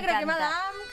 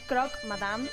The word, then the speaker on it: croque madame: Una croque madame. Ay, me corregían la pronunciación, es croque madame.